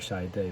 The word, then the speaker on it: Chiat/Day: it's fun it's not doesn't just sound like shy day look the way it's spelled shy it's days and this were at